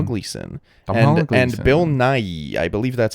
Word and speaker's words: Nighy: Bill Nighy. I believe that's how you pronounce it. Yeah. Nighy.